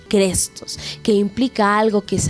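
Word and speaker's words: χρηστός: Y la palabra viene pues del griego fácil o que quizás podríamos pronunciarlo como crestos, que implica algo que es amable, algo benévolo, algo útil, incluso algo bueno.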